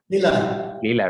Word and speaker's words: Lila: leela games am i saying correctly leela or lila how do you say it leela right okay perfect so uh you know uh